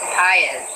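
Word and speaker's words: Patz: were talking about another very famous child, Etan Paez, who is Pates, as some people pronounce it, whose parents have, as the Goshes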